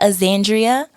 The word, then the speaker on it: Axandria: Vibe so um yeah aandrea that's my name that's how you pronounce it if anyone's confused out